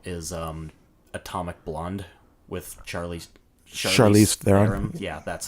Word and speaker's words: Charlize Theron: my favorite example is atomic blonde with Charlize Charlize Theron's yeah that's how you say her name I